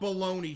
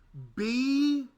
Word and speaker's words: bologna: This is how baloney should be spelled.